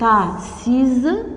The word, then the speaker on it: assise: Elle est assise, le S entre deux voyelles se prononce Z.